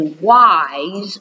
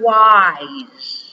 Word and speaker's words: wise: Now, this word wise, okay, that S there has a Z sound. It's just one of those words you just learn, okay? Wise, spelled with an S, not a Z.